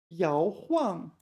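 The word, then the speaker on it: 摇晃: Okay, so this time it's fourth tone, not third tone. We remember from before, right? 摇晃.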